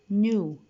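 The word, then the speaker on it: knew: Always if the words start with K followed with N, that means the K is silent. دايما ال K بتكون هي silent. Notice the pronunciations of the word. Knee, new, knife, night, not, no.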